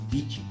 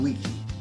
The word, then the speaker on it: vici: Latin is Veni, Vidi, Vici. Except some people pronounced it slightly differently, and they would pronounce the V as a W. So some people think he said weenie, weedy and weaky, thereby dividing the Britons into three rather inconsequential people.